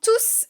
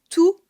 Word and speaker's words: tous: Et le S n'est pas prononcé, car tous est suivi d'un nom, les documents.